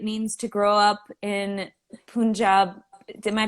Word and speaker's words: Punjab: say it is is punjab punjab punjab yeah okay the emphasis is on the job job okay so what is